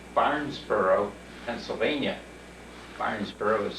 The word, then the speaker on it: Barnesboro: Barnesboro is spelled B-A-R-N-E-S-B-O-R-O, Barnesboro.